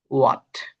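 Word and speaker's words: what: এখানে দেখতে পারছেন ডবলিউ এইচ এইটি এখানে এইচ উচ্চারিত হবে না। এটা উজ্য থাকবে কিংবা বলতে পারেন সাইলেন্ট থাকবে। তার মানে আপনি বলতে পারেন এটা হবে ওয়াট।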